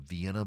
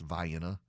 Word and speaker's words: Vienna: They have Vienna, but it's pronounced Vienna.